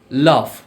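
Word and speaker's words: laugh: আজকে আমরা জানবো যেমন জিএস জাতীয় কিছু শব্দ আছে যেগুলোর উচ্চারণ ফ এর মতো হয় আবার জিএস দ্বারা এরকম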